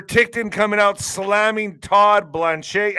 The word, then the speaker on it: Blanche: You also have Peter Tictton coming out slamming Todd Blanche. How do you say this guy's last name? Blanch. Blanche. It looks like some kind of French.